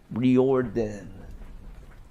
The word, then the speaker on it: Riordan: like there's the subtle difference of that it's Ry erden rather than ryun Ry ryen Ryan ryun ran i' I've been saying it ryen I think I think I have it correct but it is spelled r i o r i d a n or r i o r d a n rorden rorden H it kills